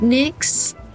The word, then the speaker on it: Nyx: Nyx pronunciation. Is it Nyx?